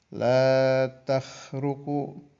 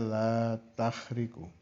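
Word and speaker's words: لا تخرق: Sawabiqul himam la takhruqu aswar al-aqdar. Banyak yang membaca la takhriqu. Boleh dua-duanya ya. Kharaqa yakhruqu boleh. Kharaqa yakhriqu boleh.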